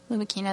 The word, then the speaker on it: Lumachina: Lumachina is the Italian pronunciation.